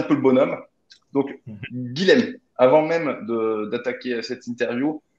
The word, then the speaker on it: Guilhem: Donc, je fais rarement des vidéos ces derniers temps, mais Guillaume a sorti, Guillaume ou c'est Guilhem, pardon, excuse-moi. Ouais, ça s'écrit Euh, Guilhem, c'est Guilhem, pas de souci.